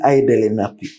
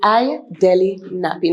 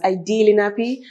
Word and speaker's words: IDeli Napi: Now, who is IDeli Napi? First of all, am I pronouncing your name right, eh? Yes. Thank you so much. Napi. It is IDeli Napi, not Ideli Napi, not Idelli, whatever. IDeli Napi.